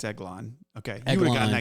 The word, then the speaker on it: Eglon: Oh, is this King Eglag? Like, Close, but am I saying it wrong? Yeah. It's who Ehud killed? It's Eglon, yeah.